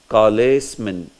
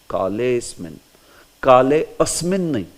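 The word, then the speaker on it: कालेऽस्मिन्: So when you are using this Avagraha, remember, this Avagraha should never be pronounced. So if you are pronouncing this, you will pronounce as Kalesmin. No, that should never be pronounced. Because that is gone here. That's why Avagraha has been put. Kalesmin. That's it. Kalesmin. Kale asmin. Never. Never say asmin.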